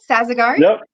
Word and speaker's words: Sazegari: Hey, today we've got Sazegari. Did I say it right? Sazegari Yep, that's me.